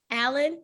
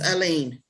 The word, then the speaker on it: Aline: Sorry, your last name, it's Allen? Is that how you pronounce it? It's Aline.